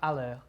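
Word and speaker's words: Haller: Sebastian, is it Halle? Allaire. Halle, how do you pronounce it?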